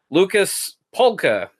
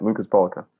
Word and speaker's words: Lukasz Palka: Lucas polka I say that right that's right okay I feel really you know I I feel bad if I mispronounce that no no I that's exactly right Lucas polka thank you hmm do you do a lot